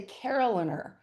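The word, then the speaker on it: carillonneur: And I was so lucky when I was up there last, the Caroliner, is that how you say it?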